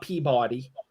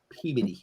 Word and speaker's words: Peabody: It's not Peabody or Warchester. It's Worcester and Peabody.